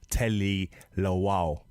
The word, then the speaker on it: Tele Lawal: She's a politician, a female, younger politician, goes by the name of Tele Lawal.